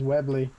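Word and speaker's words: Webley: yes I found it I think it's webly isn't it is it have I been pronouncing it yeah it is webble well screw what I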